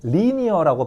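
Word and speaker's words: linear: 요게 발음이 좀 바뀌어서 신경을 좀 써야 되는데 원래는 명사로 라인 라인 선 근데 이게 형용사로 바뀌면은 리니어라고 발음하는게 좋습니다.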